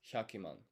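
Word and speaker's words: 百万: Now the correct answer is hakuman, right? That's how you would say um this is how you would say a million in Japanese because this is 100 times 10k.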